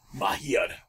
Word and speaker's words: Mahir: your nickname Majir, pronounced properly. Mahir.